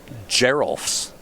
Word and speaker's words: Geralf: Like, could it be Giraffel's Messenger? I think I'm just like using the vowel wrong. Like I'm improperly pronouncing the E in the name. Geralf's.